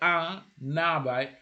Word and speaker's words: un arbre: Remember that I say un arbre. You see, un is pronounced un, but now there's the end there. You have to join. It is an arbre. It is mandatory.